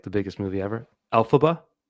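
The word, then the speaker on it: Elphaba: And Olive is being I should know how to pronounce this because it was like the biggest movie ever. Alphaba.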